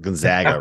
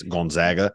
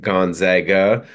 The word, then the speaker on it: Gonzaga: pronounce Gonzaga it's not Gonzaga right it's Gonzaga right they're they're you know that one of the interesting kind of ways to describe it was you don't Zog you zag so zigzag Gonzaga um so that's that's